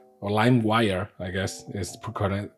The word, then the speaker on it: LimeWire: So yeah, and in those programs like, Emule, Kaza, Sheriaza, Limeware, or LimeWire, I guess is the correct way of pronouncing it.